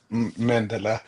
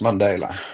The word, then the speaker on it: Mandela: This is called the Mandela effect named after Nelson. Wow. Mandela. That's that's interesting. Mandela. Yeah. Yeah. Those are those figures. But um yeah, it's not Mandela. It's Mandela.